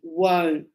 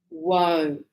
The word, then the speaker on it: won't: abbreviate and we say won't won't yeah I really emphasize that pronunciation because sometimes I have students that say want instead of won't and it's very different I want means me